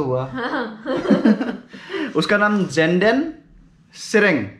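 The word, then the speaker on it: Tsering: उसका नाम जेंडन सेरेंग, सेरेंग मतलब टी SERING, टी साइलेंट रहता है।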